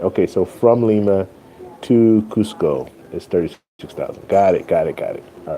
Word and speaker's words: Cusco: Costco is the city closest. Costco is the city closest to Machu Picchu. Oh, Cusco is okay.